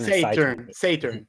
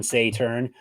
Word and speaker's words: Saeteurn: It's not Saeteurn. Saeteurn. Let's break it down. Saeteurn. Wrong turn, Saeteurn.